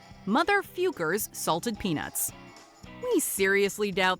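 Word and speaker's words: Focker: But in their defense, the questionable word is pronounced Fukers.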